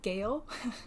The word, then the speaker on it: GEO: It's Geo. It's not Geo, it is Geo. It's written how to pronounce it right under.